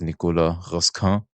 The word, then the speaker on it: Nicolas Raskin: That's pronounced French, his name's right? Because some commentators call him Nicolas Raskin, as if he's like Russian or whatever, but I think it's Nicolas Raskin.